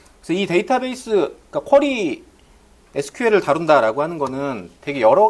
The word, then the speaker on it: SQL: 쿼리 지라는 거의 약자고 이게 예전 분들은 이걸라고 발음 안 하고 시퀄이라고 발음하는 분들도 있어요 그때 표준으로 사용된게 SQL 아니고 시퀄이라는 그런 뭐의 약자를 머리 글자만 따온게 그런 발음이 돼서 그렇게 사용을 했다고 하는데 일단 SQL 표준이 여러분들은 SQ 발음해 면 될 거 같고 자 SQL